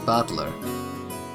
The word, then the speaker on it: Battler: Battler is made up of the characters for fight and person, and it's pronounced Battler.